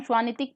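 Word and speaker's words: Świątek: इसको हम श्वानितिक प्रोनाउंस करेंगे इन पॉलिश लैंग्वेज।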